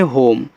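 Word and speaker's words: home: एच ओ एम ई को पढ़ते हैं होम, एच से आपका हा, ओ से ओ की मात्रा हो, यम से माँ, लास्ट में जो ई आता है उसका उच्चारण हम नहीं करते हैं।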